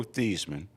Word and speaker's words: Theismann: Theismann, as he was known at the time. Out there, it's Theismann. Not rhyming with Heisman until he got to Notre Dame.